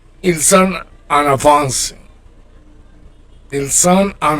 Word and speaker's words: ils sont: Ils sont. You don't pronounce consonants, okay?